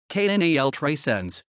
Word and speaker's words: Canal 300: canal 300 catalan pronunciation knal tracenz was a spanish free-to-air